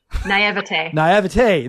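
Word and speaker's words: naïveté: So I thought in my how do you say naivety? Yeah. Naivety. Naivete.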